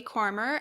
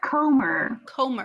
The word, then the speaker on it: Comer: say that name again for me please jody kormer am i saying it wrong yes what is it is it corner comer homer there's there's one r listen english is